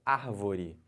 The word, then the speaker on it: árvore: uma palavra paroxítona e a palavra proparoxítona é quando a antepenúltima sílaba tônica olha o exemplo árvore Então você conta aqui ó última penúltima anti-penúltima a última antepenúltima sílaba é a mais forte Então essa palavra chamada